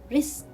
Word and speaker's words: wrist: w wrong wrong rest wrist i will not pronounce letter w because it comes before letter r so here i will